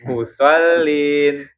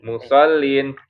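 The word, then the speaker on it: مصلين: musolin musollin musolin musin mus enggak pakai mus ya Pak Ded maaf kalau di sini s-nya dua baru bacanya mus oh mus karena di sini kan s-nya satu ya makanya bacanya langsung ke musol musol jadi ini bukan sin Tapi shad. Makanya kalau dilatinkan shad itu s h o ya. Musollin. Musol. Bukan musin tapi musollin.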